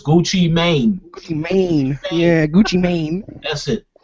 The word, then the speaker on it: Gucci Mane: has more music out gucci man or tech9 oh god um probably gucci man like stupid probably still gucci listen you pronounced it wrong is gucci mane yeah gucci mane that's